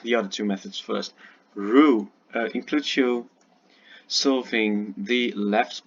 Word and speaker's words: Roux: Roux, it's the French pronunciation, Roux, and CFOEP or CFOP, also called Friedrich method.